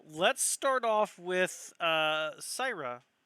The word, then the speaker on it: Syra: start off with uh sarah sierra or syrah how are you pronouncing that why cyra let's start off with saira as you are heading